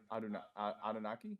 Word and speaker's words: Anunnaki: Imagine like you're saying Anubis. Anu. Anubis. You're like making Anunnaki. Anubis. Yeah. Anunnaki.